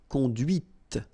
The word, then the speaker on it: conduite: Okay, so here you can listen to this t, t, okay, conduite.